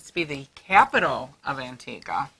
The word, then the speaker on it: Antigua: it was antiques i know people always say antigua but they say it's pronounced antigua and you know what god i know and